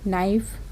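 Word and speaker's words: knife: केवल के को छोड़कर अगर के जस्ट बाद में एन लगा है तो आप केवल एन से ही सेंटेंस को पढ़ेंगे। नाइफ, knocking, knowledge, nil, NEET, not, नकल, इट्स।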